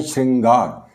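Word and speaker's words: शृंगार: का योग है इसमें इसका उच्चारण हम करके देखें जैसे यहां यह है श्रृंगार श्री यहां श के साथ इस श के साथ ऋ की ध्वनि आती है उच्चारण में श्री श्रृंगार लेकिन हम जो लिखते हैं प्राय गलती करके वो र भी साथ में रख देते हैं इसका जो सही उच्चारण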